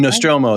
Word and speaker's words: Nostromo: So the Sulaco and I pronounce that terribly. The Sulaco and the Nostromo as well, I no, believe, right? Nostromo.